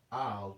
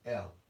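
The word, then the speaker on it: אל: in the ancient Hebrew, would be pronounced al, because the aleph has the sound of that old sounding ox, al, or in modern Hebrew, it will be pronounced el.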